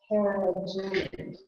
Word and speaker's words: carrageenan: Carrageenan.